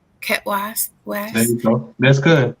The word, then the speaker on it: Khet Waas: Khet Waas. Khet Waas.